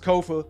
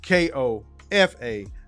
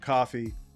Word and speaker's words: Kofa: I've been your humble host, Kofa, K-O-F-A, not coffee, not, not Kofi, or any variation thereof. Kofa rhyme with sofa, easy to say, easy to spell.